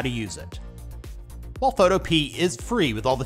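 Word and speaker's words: Photopea: runner-up spot coming in at number two is photo p many people pronounce it photopia the developer says it's photop so that's how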